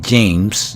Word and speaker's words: James: tarde se llama james se escribe james y se lee james del inglés juan y hard h&r